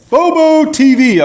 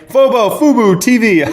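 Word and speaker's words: fuboTV: And first one up here is Bobo Tv, okay? Bobo Tv. Or Fobo. Man, why can I never pronounce this word right?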